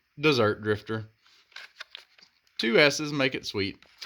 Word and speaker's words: Dessert Drifter: uh a lot of people will call it desert Drifter it's dessert Drifter two s's make it sweet so it's like